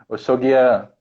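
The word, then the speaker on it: Oxaguiã: Osogia, eu não sei, me ajuda aí. É meu santo, meu santo. Como é que pronuncia? Oxoguian. Oxô, então o S fica com som de X, né?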